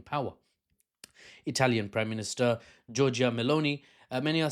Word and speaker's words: Meloni: Italian Prime Minister Giorgia Meloni, many are saying, is chatting baloney. Sorry, I had to, because it rhymes with Meloni.